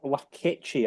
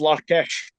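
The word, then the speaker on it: Larkeche: the left back, Ziad Lakechi. I think that's how you pronounce it. Am I right? It's pronounced Larkesh. Lakesh.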